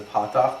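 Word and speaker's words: פתח: That's called a patakh. Everybody pronounces that as a simple ah. In English, that would be the ah as in pot.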